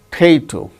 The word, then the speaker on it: potato: Potato, potato, not a potato, potato. The second syllable gains stress.